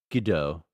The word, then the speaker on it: Godot: It's pronounced Godot, like the R.